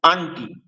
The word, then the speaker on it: আংটি: আসবে পরের শব্দটি আংটি এই কষেত্রে অনুসার মাঝখানে আসে অনুসারের পরের বর্ণটি বর্গীয় বর্ণ অনুসারের পরের বর্ণটি ট বর্গীয় বর্ণ তাহলে যেহেতু ট বর্গীয় নসি বর্ণ হচ্ছে মদিনা মদিনা উচ্চারণ দন্তন সেক্ষেত্রে আমরা এটাকে উচ্চারণ করতে পারি আন্টি ঠিক সেইরুপ পরেরটাও যে